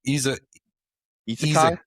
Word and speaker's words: isekai: As in Isekai?